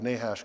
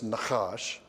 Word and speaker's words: Nahash: from the attack of nahash king of the ammonites and i kept pronouncing the name nahash as nakash that's the hebrew word and in your notes